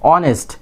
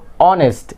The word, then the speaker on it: honest: It will be honest. আমরা কি ছোট সময় থেকে জানি এখানে কি এইচ সাইলেন্ট, এইচ এর উচ্চারণ হয় না, এটা কি honest, H is silent letter.